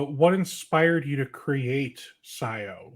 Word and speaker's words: Cyio: simple what is Scio well Scio is actually a spin it's it's spelled Cy iio it's a spin from the Latin term Scio which means to know and Scio is a